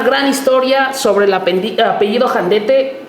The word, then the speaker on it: Jandete: Mi apellido es Jandete o Jandet, algunos lo han pronunciado como Janden.